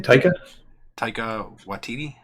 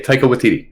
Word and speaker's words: Taika Waititi: How do we pronounce his name? Taika Waititi. Yeah, Taika Waititi.